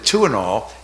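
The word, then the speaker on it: Tuinal: still around um but two and all and the name was a play on words it's spelled t i n a l two and all to T wo2 in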